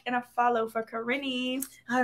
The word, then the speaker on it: Karin: Also, just to make sure you guys know how to pronounce my name, it is Karin. K-A-R-I-N. Just in case. Just throwing it out there. Karin. Not Karen.